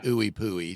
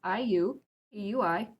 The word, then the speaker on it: IUPUI: I believe I've heard ooey pooy. So yeah. Yeah. If you're from there, you do not pronounce it that way. So it is IU eui.